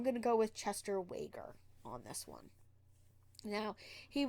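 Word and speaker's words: Weger: And some pronounce it Uyghur, others pronounce it Wager. So I'm going to go with Chester Wager on this one.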